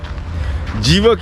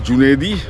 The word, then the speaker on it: Junedi: on top of it evok is a mispronunciation of junaidi the real name is junaidi junaidi was a vet